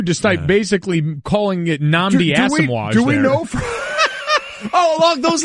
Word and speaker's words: Asomugha: And it's Nnamdi Asomugha. He pronounced it Asmuga Nnamdi. So See, not only did he butcher both words, he transposed them.